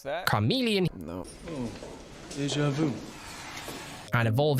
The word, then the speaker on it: Charmeleon: So if I go ahead and level up our Charmeleon here. That's not how you pronounce that. Charmeleon.